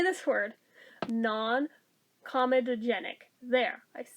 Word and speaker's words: non-comedogenic: for everyday use non-comedogenic why do i always want to put an extra syllable in there that's not there non-comedogenic there if i say it slowly i can do it non-irritating dermatologists recommended massage